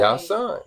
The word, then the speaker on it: Yashua: Yashua.